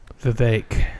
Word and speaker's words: Vivek: Vivek.